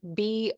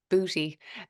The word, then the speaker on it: bouti: It's spelled Boutis. And in French, it's bouti. And in English, it's booty. Um, it's not spelled that way.